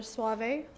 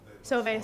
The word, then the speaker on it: Sauve: I'm the secretary for AVCSI, so I'd like to thank Councillor Suave. Am I pronouncing that properly? Sauve, sorry. I know, I always thought it was Suave.